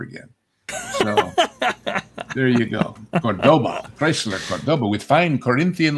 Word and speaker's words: Cordoba: You don't know how to spell you don't know how to pronounce Cordoba as opposed to Cordoba." It turned out that the I think that was Chrysler. Yeah. that their market research people found that 99% of Americans would have pronounced it Cordoba and it was more memorable to them that way. So they intentionally ordered him to mispronounce it in the commercials because that's that's what